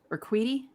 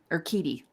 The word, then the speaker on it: Urquidy: So quickly before we go, tonight, Fried against Urquidy. Is that how you say his name? Urquidy.